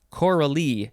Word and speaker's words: choral: So the emphasis for the first one with no E is choral.